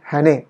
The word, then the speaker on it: Haney: हॅने, HANEY असं ते हॅनेचं spelling आहे. हॅने म्हणतात किंवा हॅने असंही म्हणता येईल, आपल्याला उच्चार करता येईल.